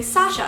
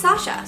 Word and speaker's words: Sasha: fine but usually I'm pretty clear about the pronunciation I say Sasha and then whenever they ask my name I say it's Sasha so when one of the authors SP my